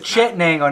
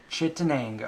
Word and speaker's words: Chittenango: Chittenango, not Shenango. Shenango County and Chittenango are different. Yeah. Chittenango.